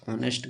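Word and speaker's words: honest: कि रानी is dash ऑनेस्ट girl अब देखो य एच य साइलेंट है तो एच साइलेंट है तो ये भवेल साउंड होगा सिंपल लेकिन यहां पर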